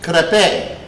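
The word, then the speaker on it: crêpe: be doing tonight now crepe is pronounced crape you know but it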